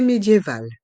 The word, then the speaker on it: médiévale: une église une cité médiévale une cité médiévale dans le mot médiéval on prononce bien l'ensemble le I et le E accent aigu médiéval médiéval et le